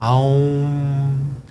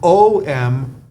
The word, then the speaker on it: Om: the sound om now it's either pronounced a u m oh om or om oh depends on what region of the world that you're in this is called the primordial